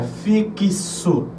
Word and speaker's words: fixo: se UEFI pronuncie Porém esse X Ele vai soar como se fosse um KS ou seja fixo então eu passo nessa